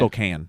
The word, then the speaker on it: Spokane: Salt Lake, perform the next night, go to Spokane, in Spokane, is that how you say it? Spokane, yep, and not Gonzaga.